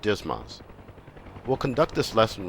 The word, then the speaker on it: DSMS: digital stores management system or dsms often pronounced dismas we'll conduct this lesson